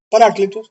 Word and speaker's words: paráclito: viene la el término paráclito así como se pronuncia paráclito que es la palabra Que traduce malamente Reina